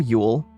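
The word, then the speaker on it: Jól: It's pronounced basically ule from Old Norse.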